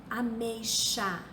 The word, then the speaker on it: ameixa: Ameixa. É escrito com X, mas se pronuncia como se fosse um CH.